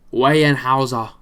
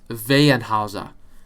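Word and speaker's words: Weyerhaeuser: oil more oil uh wayne hausa sorry it's vaenhauser i had to say it properly philips 66 shaw uh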